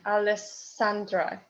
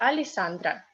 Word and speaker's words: Alessandra: Yeah, unstressed becomes E. Alessandra. Yeah? And if we have double S, we pronounce it like one S, not like in Italian, Alessandra. We say Alessandra.